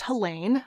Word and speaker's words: Helene: about the author helene hampf and it is pronounced helene i have seen a number of different sources